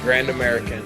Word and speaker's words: Grand American: Grand American.